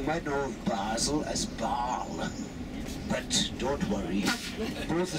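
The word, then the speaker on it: Bâle: Now, some of you might know of Basel as Baal. But don't worry, both the same place. Baal is the French pronunciation and Basel the German.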